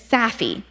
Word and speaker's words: SAFIH: It's SAFIH. It's spelled SAFIH, and it's an acronym that stands for Super Awesome Fundamentally Improbable Happenstance.